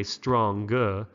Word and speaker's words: strong: letter was a G we don't say stronger but with the ng it's like strong rhymes with song strong give yourself a